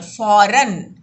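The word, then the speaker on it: फ़ौरन: देखिए फौरन में नुक्ता लगा, इसका उच्चारण कैसे करते हैं, फौरन, तुरंत सड़क बनाने का काम शुरू कर दिया जाए।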